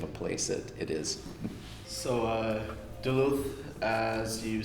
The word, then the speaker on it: Duluth: So Duluth, as you said, that's the pronunciation, is not actually the only place you've ever lived in, right?